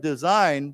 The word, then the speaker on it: design: And of course, this is not like the word design, because here we don't pronounce the G, but this word we pronounce the G.